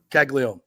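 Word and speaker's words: Caglianone: How do you pronounce his last name? Caglione.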